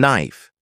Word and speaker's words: knife: Another tricky one is the silent K in words like knock, know, and knife. You can't hear the K, but it's still there in the spelling.